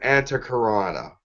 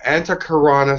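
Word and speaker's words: antahkarana: called they'll know it's a karana it's an anti karana that's how you pronounce it you spell that a n ta HK AR a and a it's an anti karana symbol if you want to write that down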